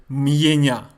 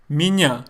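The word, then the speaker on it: меня: me here's another example when I say my name is I don't say Mia I say me yeah me yeah Minya the would Constantine or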